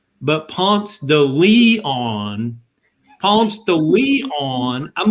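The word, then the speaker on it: Ponce de Leon: to georgia and i learned that it's not pronounced pumps de leon but ponce the lee on palms to leon i'm like seriously like is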